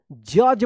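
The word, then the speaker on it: judge: जज पढ़ेंगे। डी जी एक साथ है तो ज उच्चारण होगा।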